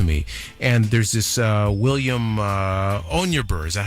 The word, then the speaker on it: Onyeabor: And there's this William Onyeabor. Is that how you pronounce it? Onyeabor.